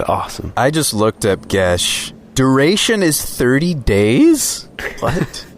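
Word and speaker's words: geas: and thrall GEOS glibness gesh gesh is how that's pronounced oh wow okay glibness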